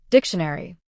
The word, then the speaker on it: dictionary: As you can see, the stress is on dick. So, we pronounce dic louder and longer. Dictionary.